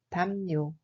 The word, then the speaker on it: 담요: Il se prononce comme 담요.